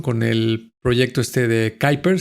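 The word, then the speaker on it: Kuiper: el proyecto este de Kyer se escribe Quiiper, que seguramente lo han escuchado.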